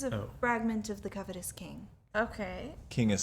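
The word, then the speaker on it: Qing: This is a fragment of the covetous king. Okay. King is spelled with a Q, by the way.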